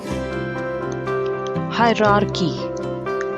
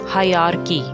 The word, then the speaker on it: hierarchy: catchy it's called cash hierarchy hierarchy many people pronounce it as hierarchy they miss the first r but there are two r's in this word and both will be pronounced hierarchy your pronunciation should